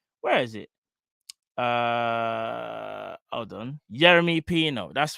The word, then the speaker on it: Yeremy Pino: I think, how do you pronounce his name? Yeremy. Where is it? Hold on. Yeremy Pino.